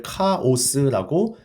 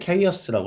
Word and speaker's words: chaos: 여러분들은 아마 이걸 카오스라고 발음을 했는데 chaos라고 합니다. 혼돈 속으로 결국 사라져 버릴 수가 있으니 조심하세요 라고 합니다.